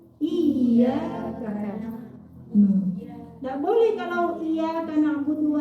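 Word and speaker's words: إِيَّاكَ: Jadi kalau iya bertasydid, cara bacanya iyyaka.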